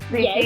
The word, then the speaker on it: Ditsha: like how multi-talented you are, like Bookstagram, BookTube, Ditsha, right? That's how you pronounce it? Ditsha, Yes.